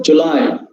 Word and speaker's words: July: jew that is wrong we should follow july july july stress is uh placed on the second syllable july very good man